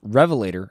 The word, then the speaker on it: Revelator: it now I believe that's pronounced Revelator as in John the Revelator I like Revelator you